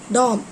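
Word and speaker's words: dome: earlier I told you, it is not Tom, it is Dom. Dom. Pronounce it as wrongly in the morning. I told you Tom, T-O-M-P. Dom, D-O-M-E, Dom.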